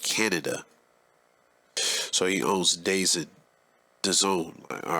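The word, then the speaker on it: DAZN: like like boxing and like soccer overseas uh pronounced the zone has been described as the netflix of sports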